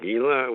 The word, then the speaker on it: Gila: Well, I understand your next Vision Quest is in the Gila Wilderness. I don't know if I'm pronouncing it right, or New Mexico. No, it's pronounced Gila. The G is Gila, like an H.